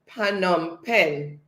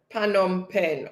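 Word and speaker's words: Phnom Penh: comes empress again so empress said it is pronounced phanom pen pan on pen okay thank you for that empress sediment saying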